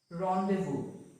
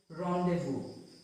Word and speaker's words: rendezvous: common ones are laissez-faire, rendezvous. So here in these two words, the Z is silent. It is not laissez-faire, but it's laissez-faire. Laissez-faire, rendezvous, rendezvous.